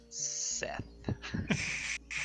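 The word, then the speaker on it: Sseth: It's like two S's, ETH. Seth. Like how a Seth. snake would say Seth.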